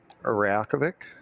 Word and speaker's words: Reykjavik: Reykjavik. Good news. Yeah. Matterall is not the worst pronouncer.